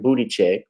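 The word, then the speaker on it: Buttigieg: win the presidency yeah i said it right booty check uh beto o'rourke wasn't going to get it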